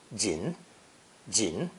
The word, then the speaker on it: 人: of fujian and taiwan the formal pronunciation of person or human is jin jin which is much older